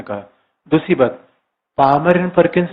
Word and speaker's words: Palmer: पामर and Perkins, पामर and Perkins ने कहा कि वर्तमान विश्व में PAL, या एल साइलेंट है, PALMER, पामर एंड परकिंस, जो परकिंसन लॉ होता है, परकिंस PERKINS।